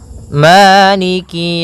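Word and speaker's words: مَالِكِ: Pada bacaan maliki di lafal ma ada hukum tajwid berupa mad tabi'i, yaitu adanya fathah bertemu dengan alif, panjangnya 2 harokat, maliki. Kemudian kaf di sini ada huruf kasrahnya, maka sempurnakan kafnya, jangan seakan-akan diputus. Misalnya maliki yau, maliki yau. Jadi kemudian kasrahnya juga disempurnakan, jangan sampai dibaca dengan e, tapi dia i.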